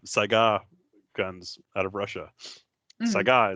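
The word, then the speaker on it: Saiga: guns out of Russia Saga is how it's pronounced uh it's an animal and anyone listening I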